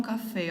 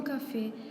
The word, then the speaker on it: café: Tout d'abord, le mot café s'écrit en portugais de la même façon qu'en français, mais l'accent aigu se prononce comme un accent grave.